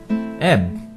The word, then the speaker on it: Ib: is Gary Gary Oaks e or Eve a lot of people say a lot of different pronunciation I will say e I'm sorry can't very